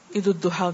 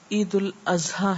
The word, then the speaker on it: عید الاضحیٰ: جی ہاں، بعض لوگ عید الاضحیٰ کو عید الضحیٰ کہتے ہیں، جبکہ یہ عید الاضحیٰ ہے. اضحیٰ اضحیہ سے، لغت کے اعتبار سے عید الضحیٰ کہنا درست نہیں. اور عید الاضحیٰ کا معنی قربانی کی